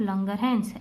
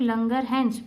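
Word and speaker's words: Langerhans: इन sales के अलावा भी एक सेल्स का ग्रुप रहता है which is known as islet of लंगरहैंस। एस is silent.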